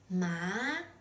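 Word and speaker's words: 马: Now, when you assign the third tone to it, it's pronounced ma with a low tone.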